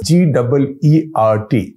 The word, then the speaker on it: Geert: His name is Geert Wilders, G-E-E-R-T, pronounced Geert, and I checked that on Google. So Geert Wilders, names from the Netherlands or the Dutch names.